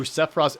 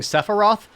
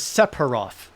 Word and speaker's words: Sephiroth: I've been watching Paul Cheon, and Paul Cheon has been pronouncing Sephiroth as Sephiroth. Like with a hard P.